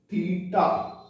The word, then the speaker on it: theta: In the trigonometry, we name this angle with this alphabet, Latin alphabet, and it is pronounced as theta.